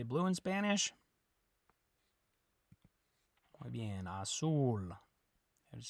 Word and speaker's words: azul: say blue in Spanish Azul let's say red in Spanish good remember that the J makes an H sound and the Z makes a s sound a soul not as Azul a rojo okay how